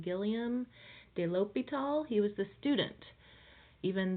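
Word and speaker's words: Guillaume de l'Hôpital: was the teacher and hopefully if you've had French you can say his name Gilliam de l'hôpital he was the student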